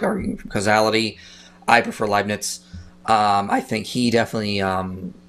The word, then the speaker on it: Leibniz: How you pronounce Leibniz. That last name? Huh? Leibniz.